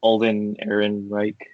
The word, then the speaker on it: Ehrenreich: Alden Ehrenreich, right? Is that how you say it? Yeah. Alden Ehrenreich.